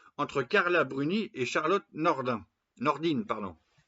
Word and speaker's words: Nordin: Carla Bruny et Charlotte Nordin Nordine pardon ça s'écrit Nordin ça se dit Nordine entre homme dans l'énergie